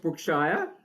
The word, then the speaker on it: Brookshire: And LaJoyce Brookshire, Shire or Sheer? Shire. Correct me, Shire. Okay, the correct pronunciation. So LaJoyce Brookshire.